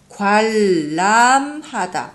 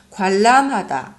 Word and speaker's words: 관람하다: 발음을 다시 보세요. 관람하다 이렇게 써 있어요. 나피스나 관람하다. 그런데 우리는 어떻게 말을 해요? 관람하다. 리을, 니은 리을 이스포리즘. 관람하다 이렇게 말을 해요.